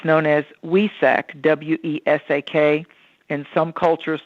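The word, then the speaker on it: Wesak: super moon of 2021 and it's known as wesec w-e-s-a-k in some cultures like in vietnam they spell it with a vias and valentine so we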